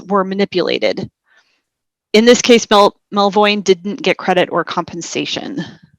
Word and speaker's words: Melvoin: Melvoin. Is it Melvoin? Yes. Yeah.